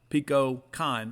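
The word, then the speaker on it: Kohn: ballgame bottom of six pico con rhymes with john came in and uh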